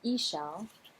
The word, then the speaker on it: Ixchel: The design is called Ixchel, Ixchel, but they have a very helpful pronunciation guide here, Ixchel, and the design is by Catherine Clark, and it is so beautiful.